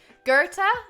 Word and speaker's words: Goethe: Goethe. It's Goeth.